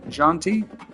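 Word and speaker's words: Jeanty: shadur Sanders teroa McMillan quinan Judkins and Ashton jonty that's how you say his name he one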